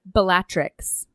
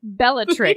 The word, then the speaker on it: Bellatrix: a Narcissa Nar is it Narcissa she's a batrix how are you pronouncing that Bellatrix yeah there you go I don't know man